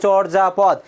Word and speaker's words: চর্যাপদ: উচ্চারণের ক্ষেত্রে অন্তর্জয়ের কোনো ব্যবহার নেই, তার স্থলে হবে বর্গীয় যা। তাহলে কি হবে এখানে দেখো, চোর যা, তারপর হবে কি বলতো, পদ, চোর যা পদ।